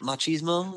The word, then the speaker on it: machismo: How do you pronounce that word? Machismo.